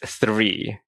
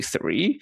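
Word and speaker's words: three: I always remember the hardest word I had was 3. Because in Chinese, you don't pronounce the th.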